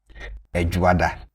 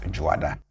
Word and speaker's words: Edwoada: And I'm putting the initial vowel in brackets because you can do away with them and it will still be the same thing. So, you can have it as Edwoada or just Dwoada.